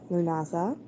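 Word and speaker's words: Lughnasadh: I had been putting a D in there, and I see now in this book that I had been pronouncing it wrong. Lughnasdah divination, traditional methods of foretelling the weather.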